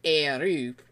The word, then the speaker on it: Air: Squadron is called Air, though it's constantly pronounced Airu, and half the time spelled with that pronunciation in mind.